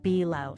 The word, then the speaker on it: Bulo: You're also going to be seeing Bulo or is it Bo? can you help me out here? How do you pronounce your last name? My last name is pronounced below.